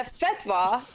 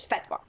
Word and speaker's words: fatwa: A fatwa or fatwa, they pronounce it both ways. Oh, I know fatwa. I know that. So, okay, but continue. Well, the correct Arabic pronunciation of it is fatwa. Okay. That's how they say it.